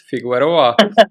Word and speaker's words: Figueroa: Figueroa. Figueroa, Uh, Figueroa. You don't Figueroa.